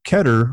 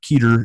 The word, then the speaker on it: Keter: distinction between it and Keter or keator if you like pronouncing it wrong ooh I hear flamewar well no it's a it's the thing is you only see it written so it's ke ter would be totally reasonable to say here except it's a